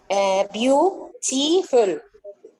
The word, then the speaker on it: beautiful: Beautiful. Beautiful. Okay, and which syllable will receive the stress? The stress? The first syllable.